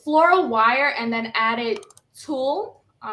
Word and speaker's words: tulle: wire, and then added tulle. Is that how you say it? Like tulle? Yeah.